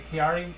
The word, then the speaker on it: Chiari: So they went and actually did studies and found she had a Chiari, I think that's how you pronounce it, Chiari or Chiari malformation, which is a problem with the skull.